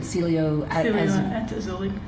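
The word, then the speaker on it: Cielo Azul: Celio at Azuli.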